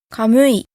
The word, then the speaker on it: kamuy: kiwi "yaykosiramsuypa": to ponder On the other hand, if the first syllable is open, then the second syllable gets the accent. So the following words all have the accent on the second syllable: kamuy: spirit, god, bear reye: